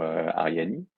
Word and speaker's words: Arianee: toujours intéressant alors justement ariani donc on prononce ariani déjà et pas Arian parce que pour le